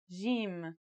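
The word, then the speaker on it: جيم: in Standard Arabic and Syrian Arabic it should sound like the J in the word Jam while in Egyptian Arabic it sounds like the G in the word game they're both quite easy to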